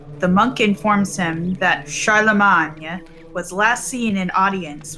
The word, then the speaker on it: Charlemagne: in the visiting chamber see we haven't been saying it right so well i mean it's the anglicized way of saying it muffled voices emanate from